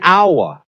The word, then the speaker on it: hour: And then the flip side, an hour is a consonant, but we say an hour because the H is silent and it starts with an sound, a vowel sound.